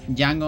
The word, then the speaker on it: Django: Django on chain. The D is silent.